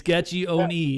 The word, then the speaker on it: Gaccione: It's Gaccione. It's 4 syllables.